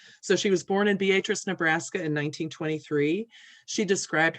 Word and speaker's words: Beatrice: beatrice nebraska it's spelled beatrice but it is pronounced by the locals as beatrice so she was born in beatrice nebraska in 1923 she described her background as